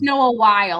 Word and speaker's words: Wyle: Um, it, I always heard Noah Wiley, but I guess it's spelled Noah Wyle. I think it's Um, Noah Wyle. I think that's how it's said.